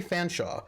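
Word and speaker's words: Featherstonehaugh: Chumley Fanshawe, correct spelling. Oh, wait, I'm sorry. Wait. Control freak. Chumley Fanshawe is spelled Cholmondeley Featherstonehaw. Because British aristocrats, to be quite honest.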